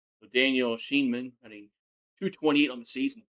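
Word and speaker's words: Schneemann: How you pronounce that? Sheenman. So Daniel Sheenman, 228 on the season, 5 homers.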